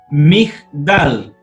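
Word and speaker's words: מגדל: Y entonces aquí tenemos Migdal. ¿Se fijan que en la transliteración ya no tenemos la E?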